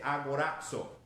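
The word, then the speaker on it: ἀγοράζω: en el griego que dice a corazón se así se pronuncia esa palabra en el griego otra palabra que es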